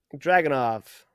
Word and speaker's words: Dragunov: So, you might Dragunov.